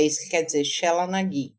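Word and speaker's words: Sheela na gig: Eu acho que isso é a expressão toda de uma deusa que se chama, na cultura celta, Shela Nagi.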